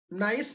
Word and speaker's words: gneiss: नाइस को जाए okay नाइस pronunciation करबे GNEISS नाइस को जाए एटा अच्छा ग्रेनाइट